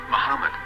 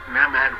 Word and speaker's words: מחמד: Muslim prophet, or as Mamad with no A after the H. According to Ben Yehuda's Hebrew English Dictionary, it is correctly pronounced as Muhammad, not Mamad.